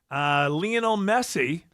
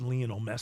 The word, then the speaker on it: Lionel Messi: Lionel Messi. Lionel? It's Lionel. Properly, it is Lionel Messi. But here in the South, Lionel.